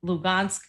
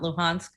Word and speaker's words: Luhansk: that don esque and lugansk is the russian pronunciation it's not luhansk um and mariopol and